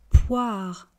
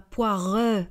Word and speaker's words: poire: Poire une poire des poires. Poire une poire des poires. Vous noterez que je ne dis pas poireux hein.